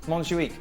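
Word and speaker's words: Montjuïc: the correct pronunciation? Montjuic.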